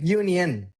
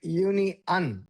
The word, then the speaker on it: union: See, this is written like this, but you want to pronounce this as like uni-un. Like not uni-on, uni-un.